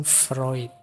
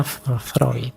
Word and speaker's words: Freud: terkenal dengan psikoanalisisnya yo tulisannya Freud yo bacanya Freud. Awas keliru cara bacanya. Tapi yo gak apa-ap lah cuma salah mengecekan gak apa-apa. Kalau kalian terbiasa freud ya gak apa-apa.